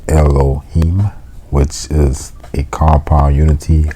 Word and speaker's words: Elohim: The word God is Elohim, pronounced Elohim, which is a compound unity of one made up of many.